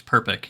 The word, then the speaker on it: Perpick: It's basically exactly like it looks. Perpick. You just PRP Perpick. I would have been like per pitch.